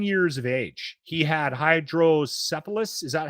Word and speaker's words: hydrocephalus: He had hydrocephalus.